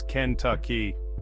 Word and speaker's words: Kentucky: aroma filling the air it's Kent Tui with a soft tuck sound like you're Whispering the